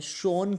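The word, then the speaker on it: sans: सेंस थी, देखो सेंस एक फ्रेंच वर्ड है जिसको वैसे प्रोनाउंस जो है शॉन किया जाता है, शॉन teeth, शॉन eyes, शॉन test, शॉन everything.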